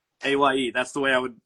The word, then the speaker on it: Aye: and then. like yeah, like I'm voting AYE.